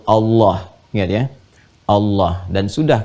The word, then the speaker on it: Allah: Allah subhanahu wa taala walaupun nanti dalam pedoman transliterasinya dituliskan misalnya ada a kemudian l l ada yang menuliskan a lagi Kemudian H dibacanya tetap mengembalikan kepada diksi aslinya tulisan aslinya dalam bahasa Arab yaitu Allah ingat ya Allah dan